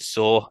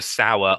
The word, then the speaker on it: Saur: it stuck and then it's been constantly mispronounced ever since some bands think some we we've been introduced to sour on S so I need to make a t-shirt that says S at the end of dinosaur and then convince some